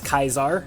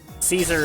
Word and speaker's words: Caesar: Caesar or kaisar uh it's kaisar is technically the correct pronunciation um Caesar is a angloid we the it' be